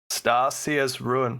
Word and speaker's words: Starseer's Ruin: I'm probably going to butcher this, but is it Starseer's Ruin? Hey, you said it right. Hey, got him. Starseer's Ruin.